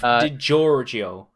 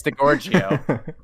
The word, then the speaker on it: DiGiorgio: You know, Steve DiGiorgio, I can't even pronounce these names. What the fuck? Steve DiGiorgio. Is that right? Steve DiGiorgio. What the fuck? Oh. It's Delicio. It's not delivery, it's DiGiorgio.